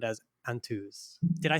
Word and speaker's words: Antaeuz: name and sound as Antaeuz. Did I say that correctly? In English, it's Antaeuz, and in Spanish, it's Antaeuz. Okay, in Spanish.